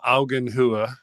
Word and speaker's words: Augenhöhe: That idea of Augenhöhe, did I say it right?